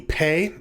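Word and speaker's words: פ: The next one down, the Pe, also is pronounced differently with the Dagesh than without. Without, it sounds like a PH sound, and with the with the Dagesh Lena, it makes a P sound, and then the Taf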